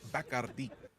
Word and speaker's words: Bacardi: When we went to the Bacardi distillery in Puerto Rico, when we were told that it's properly pronounced Bacardi, or the one with the bat. Like this, it's been Bacardi my whole life, so tough to break the habit.